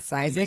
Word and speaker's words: Cisek: Cisek, is that pronouncing Yep, that right? Cisek.